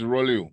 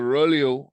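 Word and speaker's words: rouleaux: as so Ru because remember it's a French word it's not English right so the Roo is the stack that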